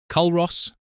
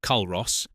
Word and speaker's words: Culross: Culross, Fife, Scotland. Pronounced Culross, not Culross, and getting that wrong in front of a local will earn you a look that could curdle milk.